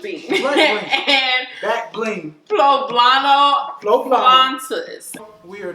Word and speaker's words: flautas: Flautas. Pronounced flautas.